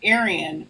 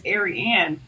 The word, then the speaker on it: Aryanne: No, because people pr pronounce my name Aryan. It's not Aryan. It's Aryanne.